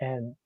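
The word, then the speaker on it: 円: But if you ask Japanese people to pronounce the word individually, it would always be en.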